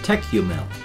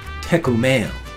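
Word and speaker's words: Tékumel: EK my apologies you m e l like tech you mil but it's actually pronounced closer to tech Kumail and I was remembering that while walking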